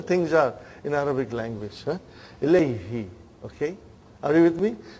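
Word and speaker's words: إليه: Now pronounce Ilayhi. You can pronounce with ease, See, that's how beautiful the language is. How logical things are in Arabic language. Ilayhi.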